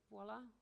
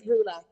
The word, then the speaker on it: Vula: Is it Voila? Greatest? Hi. Hi. I don't know if Hi. I'm pronouncing your name right. It's Vula. It's Vula.